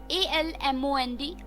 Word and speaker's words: almond: सो आमंड, ALMOND, आमंड। L is silent in this word.